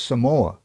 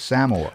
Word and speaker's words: Samoa: Like, I always thought it was Samoa, but it's Samoa.